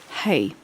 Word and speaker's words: Hei: it has to do with a man named Hei, that's spelled Hei, a leader, a master navigator.